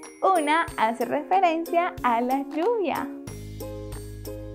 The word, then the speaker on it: lluvia: lluvia a la palabra lluvia le hace falta la sílaba Yu que es la que formamos con la doble L y la vocal u lluvia perfecto y la